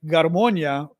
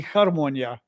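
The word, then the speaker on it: гармонія: I remember the Ukrainians pronounce the letters a little differently than the Russians, and I learned it Russian. So I would say like garmonia, but it could be harmonia. I'm wondering. But I don't know how you pronounce it. Yeah, is my question, Skywalker. That first g, is it a g or is it a h?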